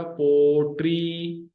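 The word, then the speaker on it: پوٽري: तो ये पोट्री, पी, पे और वाव जबर के साथ मिले हुए, टे और ये जेर के साथ मिले हुए, POTRI, पोट्री, राइट।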